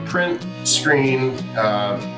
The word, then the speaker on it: PRNT SCRN: It's print screen. Yeah, it's kind of like the key on a keyboard.